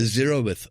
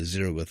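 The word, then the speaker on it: zeroth: it was called the zerowith law like the word zero and with a th on the end the zerith law and that went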